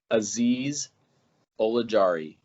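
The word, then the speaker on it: Azeez Ojulari: do not have faith whatsoever in this name aziz oligari i maybe would have got that maybe i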